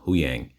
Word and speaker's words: Huyang: I'm always pronouncing his name wrong, but Huyang.